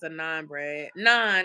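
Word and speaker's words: naan: calorie bread you said it's a non bread nonan it's spelled n a a n bread that's the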